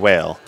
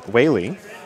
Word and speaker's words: Wale: It does look on the screen, W-A-L-E, I like whale, but it's pronounced Whaley.